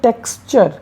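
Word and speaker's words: texture: तो dear viewers, किसी भी शब्द में टी यू आर ई आने पर इसका उच्चारण चर हो जाता है। क्या हो जाता है? चर हो जाता है। तो जैसे हम वर्ड देखेंगे टी ई एक्स टी यू आर ई, इसको हम पढ़ते हैं टेक्सचर।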